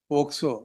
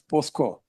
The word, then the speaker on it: POCSO: Quite often your lordship would say, listen until you say POCSO, not as POSCO.